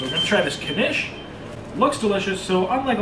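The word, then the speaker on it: knish: pronounce that beef connection you do pronounce the k i like it so we're going to try this kanesh looks delicious so unlike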